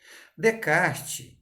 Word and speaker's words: Descartes: de kart de caixa que a gente escreve descartes leva menos de castilhos é a pronúncia correta de kart em um método racional